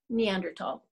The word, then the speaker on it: Neanderthal: Either way, whether it has an H or not, it is Neanderthal.